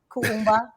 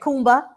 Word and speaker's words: Kuumba: Thank you, Elder Kafele, for correcting me last night with Kuumba. I was saying Kumba, Kaumba. Umba. Getting one of those syllables.